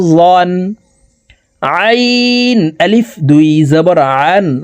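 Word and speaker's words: عًا: আইন আলিফ দুই জবর আন আইন হরফকে হালুকের মধ্যখান থেকে চাপ দিয়ে উচ্চারণ করে পড়তে হবে কারণ আইনের মাখরাজ হালুকের মধ্যখান থেকে হবে আইন আলিফ দুই জবর আন গাইন আলিফ দুই জবর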